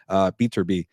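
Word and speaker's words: Beterbiev: Beaterby.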